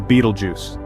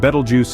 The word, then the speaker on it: Betelgeuse: giants in our universe first off we have Beetlejuice yes it's a mouthful but this star is worth every syllable located in the constellation Orion Betelgeuse is a supergiant meaning it's even larger than